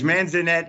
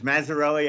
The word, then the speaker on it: Mazzarelli: lesser thing than than the mispronunciation of judge manzanette i know very well judge mazzarelli i apologize um and